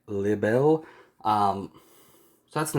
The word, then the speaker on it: Libere: when you're watching it it's just called rebel um but pronounced by a japanese person so it's like libel um so that's the